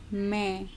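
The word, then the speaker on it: मैं: That means that N at the end is only half pronounced. It is a nasal sound. And you can see this dot over here. So this dot denotes this nasal sound. It's main.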